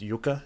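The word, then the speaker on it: Jukka: but uh you know j-u-k-k-a juka i think it's pronounced yucca if it has a soft j like tarya does um but uh i'd probably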